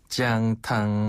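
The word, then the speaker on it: 姜汤: 강자를 살려서 지앙탕이라고 합니다. 지앙탕.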